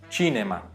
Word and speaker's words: cinema: Já a palavra cinema em italiano, a gente fala cinema, porém e a palavra casa a gente fala casa mesmo.